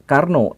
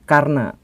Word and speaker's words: Karna: Soe tetapi su dan bukan Karno tetapi Karna dan ini sebenarnya bukan hanya perbedaan kecil dalam aksen Sunda atau Jawa atau perbedaan dalam bahasa baru dengan bahasa lama bukan seperti itu bukan ejaan lama ejaan baru bukan seperti itu tetapi ini memang adalah nama yang sudah disematkan jadi maksudnya sempat di zaman